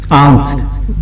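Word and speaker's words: Angst: German भाषा में एक शब्द है इसको कहते हैं एंग्स्ट ए एन जी एस टी आंग्स्ट वहां जर्मन में से आक्स्ट प्रोनाउंस करेंगे वो ऐसी स्थिति है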